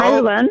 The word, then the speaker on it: Heulwen: How do you pronounce your first name? Heulwen? I'm Sunshine, yes. Oh. Heulwen, yes. Heulwen. Okay, Heulwen.